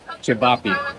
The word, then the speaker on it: ćevapi: some Bosnian food I finally learned how to pronounce ćevapi ćevapi the bikers from the gate gave me a